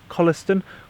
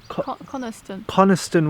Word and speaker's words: Coniston: into the lake yeah colistin Coniston water sorry I've been saying it wrong it's failing it's pain